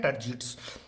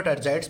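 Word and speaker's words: tergites: Side में होती है उसको बोलते हैं टर्जिड्स, या फिर टर्जाइड्स भी कुछ बोल देते हैं। तो आप इसको प्रोनाउंस किस तरीके से करते हो वो अपना देख लेना।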